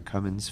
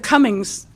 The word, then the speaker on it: Cummins: Our next speaker is Cummins, followed by Lydia Mather. Oh, thank you, council member. You actually pronounced it right. A little bit of practice. I usually get Cummins. The Cummings gives me plausible deniability.